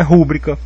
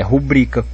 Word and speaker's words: rubrica: Então, se as pessoas aí estão escrevendo sem acento é porque não é rúbrica, é rubrica, né?